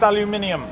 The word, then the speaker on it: aluminium: It's pronounced aluminium.